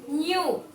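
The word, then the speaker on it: knew: K-N-E-W, new. Here K is silent because we are not pronouncing K sound.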